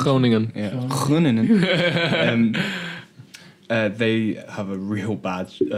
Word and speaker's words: Groningen: Is that the right pronunciation? Groningen. Yeah, Groningen.